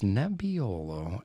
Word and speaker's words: Nebbiolo: grape are we trying it's nebiolo that'd be olo and the phrase that pace and it rhymes with my last name but i won't say my last name there it's nebbiolo and uh as if you